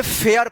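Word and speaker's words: fare: ई last में रहेगा तो ए का ए उच्चारण होगा। ठीक है? एफ ए आर ई इसको क्या पढ़ेंगे? फेयर पढ़ेंगे।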